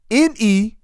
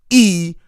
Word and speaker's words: Negus: by spelling the word first, then give the pronunciation. Negus. I'm going to say it one more time. Negus.